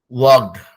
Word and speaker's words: walked: Walked. WLKED में L silent है तो इसलिए walked हो जाता है वो.